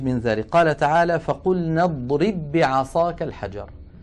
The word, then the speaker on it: اضرب بعصاك: اضرب آخرها باء ساكنة، بعصاك أولها باء متحركة، فهنا لابد من إدغام الباء الأولى في الثانية، ويكون النطق بباء واحدة مشددة، نطبق الشفتين على الباء الأولى ونفتحهما على الباء الثانية هكذا.